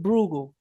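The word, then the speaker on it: Brugal: Rahul Bugal. Okay. How do you spell that?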